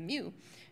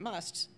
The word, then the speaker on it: mu: and spacing as the MU which I think in Greek is pronounced me actually but I can't seem